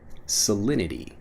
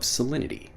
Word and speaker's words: salinity: the conversation next salinity salinity when I'm pronouncing it fast salinity even though again we have that T sound salinity becomes salinity when we're pronouncing it quickly what's the salinity of